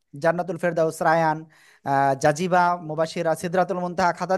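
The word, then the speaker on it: ر: দাঁতের আগার সাথে লাগিয়ে মোটা আওয়াজে একালিফ টানিয়া র অক্ষরটি উচ্চারিত হয়।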